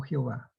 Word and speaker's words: Jehová: O sea, que esta cosa que está aquí se puede pronunciar como Yahvé o como Jehová.